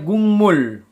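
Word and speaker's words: 국물: Penulisannya gukmul, pelafalannya gungmul. Gungmul. Gungmul. Gungmul. Gukmul, gungmul. Jadi ini terjadi karena kan bacim giok bertemu dengan miem.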